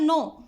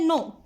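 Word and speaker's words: know: तो इसकी word meaning hard words इसमें फर्स्ट है नो, नो मतलब जानना, किसी चीज़ को हम जानते हैं, इसमें के साइलेंट होता है इसलिए इसको बोलते हैं नो, जानना।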